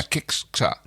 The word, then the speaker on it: Kixxa: Kixxa. I'm not sure. Yeah, well, I'll just try to pronounce it the Finnish way and go Kixxa. But there's 2 X's. Yeah, Kixxa.